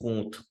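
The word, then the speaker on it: Comte: Harbert Spence IM right my pronunciation may vary because I have heard people trying to use the exact French pronunciation Calling August K instead of K uh some call him em dkim uh I'm using the general English pronunciation so to me he is August com that's what I'm pronouncing and uh emim that's how I'm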